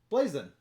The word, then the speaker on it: Blazon: going to check out blazin blazon and i'm your azul how do you say it blazon i said it right all right yeah so